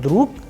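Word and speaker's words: друг: Likewise, in the word druk, again the sound of ge is changing into k.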